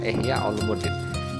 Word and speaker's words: Ihya Ulumuddin: Apalagi karya-karya sejarah, nama-nama kitab yang diungkap dalam buku itu ditulis berdasarkan bukan cara baca. Misalnya ada karya Ihya Ulum Ad-Din gitu. Anak kadang membaca begitu. Misalkan Ihya Ulumuddin. Jadi kadang ada buku yang tidak ramah anak itu ya begitu. Jadi tidak dituliskan dengan cara bacanya.